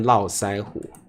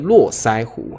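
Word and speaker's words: 络腮胡: 台湾念络腮胡。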